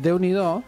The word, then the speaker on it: Déu n'hi do: Hay una expresión muy bonita en catalán que es Déu n'hi do. ¿Cómo se escribe?